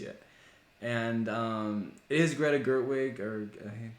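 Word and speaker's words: Gerwig: actually go see it and um is Greta gertwick or pronouncing is that correct yes yeah and so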